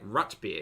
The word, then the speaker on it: root beer: Sarah says fun fact root beer is pronounced like rutbeer in Minnesota wait is Minnesota Minneapolis Minnesota